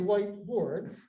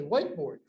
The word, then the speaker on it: whiteboard: This is a whiteboard. And the difference in pronunciation is systematic. Whiteboard is one word, accent on the first syllable.